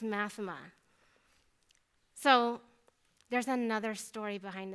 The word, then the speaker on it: Math3ma: Now you know it's not pronounced Math3ma. It's pronounced Math3ma.